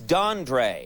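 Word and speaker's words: Dondré: name but the name it's dandre yes is that is spelled that for me it's d o d o n d r e and there's an accent over the E an accent on your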